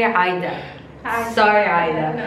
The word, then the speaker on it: Ayeda: Her name, I've been saying Iyada, but it's actually Aida. Hi. Sorry, Aida. No, it's okay. So you guys have to meet Aida.